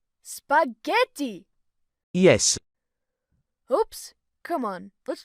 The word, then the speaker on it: spaghetti: First thing, you have to make the a sound, don't mute it. Make it sound like in the word America. Spa? Yes, just like that. Something with the in, ge, pronounce it like in the word ever.